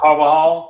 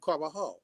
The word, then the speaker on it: Carvajal: Yo, it's like a hall. It's like hall. Carvajal. That's how you say it, yeah. You know how them J's is.